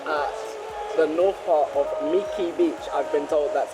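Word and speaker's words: Mỹ Khê: We're now at the north part of Miki Beach. I've been told that's how it's pronounced.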